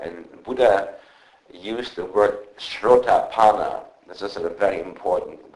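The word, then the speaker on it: Srotāpanna: word for that, and Buddha used the word shrotapana. This is a very important word. I will explain to you what the word means. Shrotapana.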